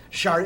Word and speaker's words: Sade: Well, I mean, how can this gal come out and spell her name SAD and then insist we pronounce it shard?